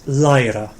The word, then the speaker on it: læra: It's a little bit like the English word. It's læra.